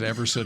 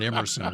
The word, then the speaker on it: Everson: How many years were you in the league before the announcers finally figured out that your name was Everson and not Emerson Walls?